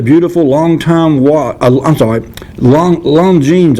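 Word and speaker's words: Longines: long time i'm sorry long long jeans i think is where you pronounce that l-o-n-g-i-n-e-s lon jing's watch is a gift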